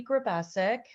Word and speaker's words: Grubesic: very strong on linkedin my name is grabassic it's a very hard one but my first name is spelled with two e's it's um anchor